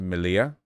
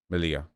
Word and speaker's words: Melilla: It's pronounced Melilla. Melilla.